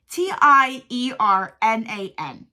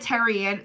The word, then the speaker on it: Tiernan: I can never say her name. It's Tiernan. How do you say that? I said Terrian the whole time, even though I know that's not her name.